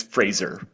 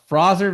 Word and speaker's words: Fraser: How am I supposed to pronounce it? It's Fraser. Yeah, exactly. All right, everybody. We're going to talk about the Frozer Valley today. Sorry, did I say that wrong? The Frizzer Valley.